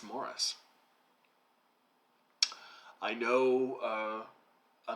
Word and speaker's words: Maurice: ian forrester and it's morris i know uh americans will want to pronounce that maurice but uh forrester was english and uh over in england it's pronounced mars i wanted to talk